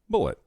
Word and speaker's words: Bulleit: in Lawrenceburg Kentucky by a man named Tom bullett and that oh that's really a name that's really a name that's why it's spelled the way that it's spelled because it's